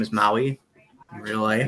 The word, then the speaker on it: Maui: He's like double my height because his name is Maui in real life. It's Maui, not Maui. That's what I said, Maui. No, don't try it. Maui. You're putting the emphasis on the wrong consonant.